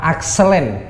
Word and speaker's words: Acelane: Mas Azis eh nama akselen apa bacanya yang benar itu kalau menurut spellingnya sampan itu apa? Akselen. Akselan akselin. Apa yang terakhir? Xlin lin. Es lin. Ace ya itu es kartu as. Lin itu jalur kan kalau di pleloton kan